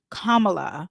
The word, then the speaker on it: Kamala: okay after I do kamla and I have to say her name like that so I can make sure I say it correctly I have a college